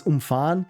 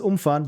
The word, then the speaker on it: umfahren: Because when you look at it, it's the same, it looks exactly the same. And it's just context and how you pronounce it. So the first means, du musst es umfahren, means you have to drive around it. And the other is du musst es umfahren, you have to drive over it.